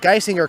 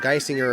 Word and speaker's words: Geisinger: He'll come back on in the bottom of the third against the 8-9-1 hitters, Nick Geisinger, Kelton Watts, and back to the top of the order in Drew Reiger.